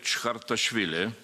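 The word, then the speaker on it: Chkhartishvili: And of course, Boris AKUNIN, well, I will try to pronounce real name without any mistake. Grigory Chkhartashvili.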